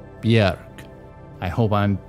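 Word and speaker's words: Björk: that which was bjerk i was going to say bjork but it's not bjork i've just learned recently that it's bjerg i hope i'm pronouncing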